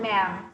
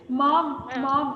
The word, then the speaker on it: ma'am: is saying the word ma'am. Say it again. Ma'am. Ma'am. Ma'am. Kasi Ma'am. minsan, Ma'am. students say it like this. Mom, am I your mommy? I'm not your mommy. I'm your ma'am.